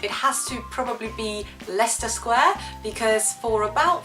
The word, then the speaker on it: Leicester: of Living in England I still thought it was going to be pronounced lakester Square that's not a joke I know you're embarrassing but I really thought like genuinely did think it was pronounced lakeer square and I would probably